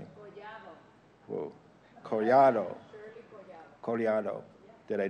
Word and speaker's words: Collado: How is your name pronounced properly? Collado.